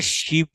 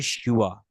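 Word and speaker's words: शिव: অন্তস্থ বটা লেখা হয়, যার কারণে উচ্চারণটা শিব হবে না, এটা হয় শিওয়া, ঠিক আছে, শিওয়া।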